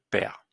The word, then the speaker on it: perds: Je perds. Alors le DS ne se prononce pas.